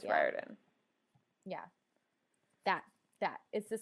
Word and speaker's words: Riordan: started getting better because I used to pronounce it Riordan and not Riordan it's Riordan yeah that that is